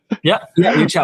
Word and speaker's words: Yuchao: So Yuchao, did I pronounce that right? Yuchao.